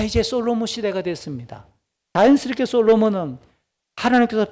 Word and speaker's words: 솔로몬: 그러니까 솔로몬 시대에 이 태평천하가 이루어지고 있다는 말은 솔로몬의 시대에 드디어 이스라엘과 주변국들이 누리고 있는 이 평화는, 이 평화의 시기는 이동형 성소를 대체하는 성전 건축이 필요한 시기가 되었다라고 하는 것을 알려주는 겁니다. 솔로몬의 히브리식 발음이 셜로모흐라고 읽습니다.